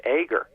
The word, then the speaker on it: Eager: of my name correction because you said it the way most people say still eager and I am a very enthusiastic guy but it I was taught as a child that the last name my name is pronounced ager you know and and